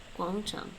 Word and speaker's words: 广场: Guangchang. Level high, and then rising.